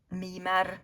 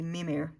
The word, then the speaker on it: Mimir: Mimar is how we say it in Swedish, but apparently Mimir in English.